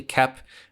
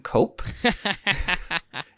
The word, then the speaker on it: Koepp: I also looked up how to pronounce his name. It is actually Koepp. I know that in our Spider-Man episode, we kept calling him Cope.